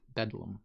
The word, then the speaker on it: Bethlem: original London dialect so Londoners later abbreviated this term to Bethlem and often pronounced it bedlam do I get points